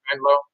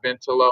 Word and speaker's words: Bentlow: There was something circulating on social media the correct way to say that. Also, it's Bentlow, it's Bentlow, not Bentlow or Bentlow.